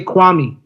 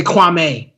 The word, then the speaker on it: Kwame: Like he always says Kwame Brown's name wrong. Yeah, like me being Ghanaian, you say Kwame, you don't say Kwame.